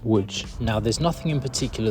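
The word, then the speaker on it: Łódź: Now, I know you're probably looking at the spelling thinking that's pronounced lots, not wood, but the correct pronunciation is wood.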